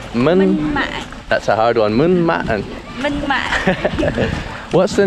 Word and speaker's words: Minh Mạng: How do you pronounce the name of the tomb again? Minh Mạng. Minh. That's a hard one. Minh Mạng.